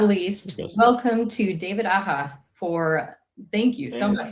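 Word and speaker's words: Aja: So David Aha is the correct way to say his name.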